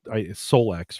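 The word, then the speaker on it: Solix: course, we're talking about an Anchor, Solex, right, is how they pronounce it, Yep.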